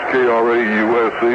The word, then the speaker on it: Krause: Krause is spelled Krause, K-R-A-U-S-E, but he pronounces it Krause. Larry Krause and Dave Hampton.